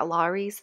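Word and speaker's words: Lawry's: marinated them in this Larry's um or like an herb yeah Loris is how you say it herb and garlic upward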